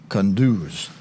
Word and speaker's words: Kunduz: Okay, all right, we did have video, and it basically repeated everything I said to you, except that that area affected is pronounced Kunduz.